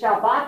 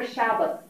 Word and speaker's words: Shabbat: came from traditions and how you pronounce things is it Shabbat or shabas um these are things